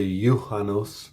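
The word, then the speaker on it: juhannus: Finnish words that begin with the letter j ye would be yanos which is Midsummer in Finnish and then the other one would be yolu which is Christmas in finish uh one Y is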